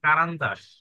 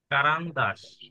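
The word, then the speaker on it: карандаш: আচ্ছা, তারপর হচ্ছে পেন্সিল, পেন্সিল কি বলে দেখেন, কারান্দাস। আচ্ছা, কারান্দাস।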